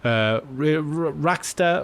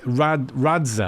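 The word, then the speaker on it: Radxa: Rackster, or I always say their name wrong. let's see, Radza, I always call them Rackster.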